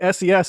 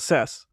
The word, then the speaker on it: SES: got it okay so why is the payload today SES and not cess because they're paying for it they can pronounce it however they want it SES double says like